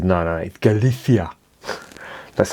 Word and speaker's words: Galicia: from galicia and he's because i call it galicia and he says no no galifia that's how they pronounce it i'm not knocking them but that's